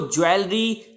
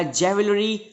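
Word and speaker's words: jewellery: Next example हमारे पास है अगर आप इसको ज्वेलरी या जेवलरी प्रोनाउंस करते हैं तो वो भी गलत होता है। इसको आप एक्चुअली प्रोनाउंस करेंगे ज्वेलरी, ज्वेलरी।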